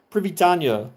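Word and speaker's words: прывітанне: And you would imagine it's spelled uh, in English, translated as PRY essentially, pri, and then VITANNE basically is how it's pronounced. But like the two N's are like a nya, or no, it's a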